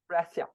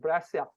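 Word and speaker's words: Breccia: course um who knows how to pronounce uh Alberto's last name bre Bia breia breia yes calling I can always count on you you know your stuff oh I love brasia braia okay let's learn braia um the his te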